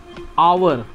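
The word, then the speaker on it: hour: आवर भले ही ये एच से स्टार्ट हो रहा है लेकिन इसका उच्चारण जो है ओ से हो रहा है ना, आवर, ये हो जाएगा एन आवर।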